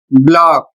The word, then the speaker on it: block: अगला शब्द है ब्लॉक, BLOCK, ब्लॉक जिसका अर्थ होता है खंड। अगला शब्द है QUICK। इसका उच्चारण होता है क्विक और इसका अर्थ है शीघ्र।